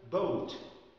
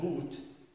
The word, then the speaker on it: boat: عندنا كلمة مثلا boat، boat boat يعني قارب. لو إحنا قلناها boot بقت نعول طويلة، حذاء طويل.